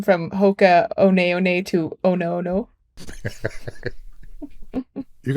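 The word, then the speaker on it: Hoka One One: looks like hoka11 but the ones are pronounced one so it's really Hoka one that's a little fun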